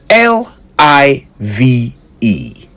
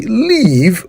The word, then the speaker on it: live: L I V E. Live. Simple, right? Yet we often hear people say leave when they mean live.